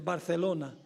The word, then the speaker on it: Barcelona: O debo pronunciarlo correctamente, Barcelona.